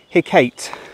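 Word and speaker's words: Hecate: evil and that black dogs were aware of hey Kate which is spelled h-e-c-a-t-e the ancient Greek goddess of witchcraft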